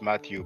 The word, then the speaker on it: Mathieu: Now, Mathieu is what you pronounce Matthew, but you have the name written in the title.